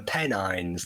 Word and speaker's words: Pennines: Yeah, well, this is where I'm from, the Pennines. That's how you pronounce it.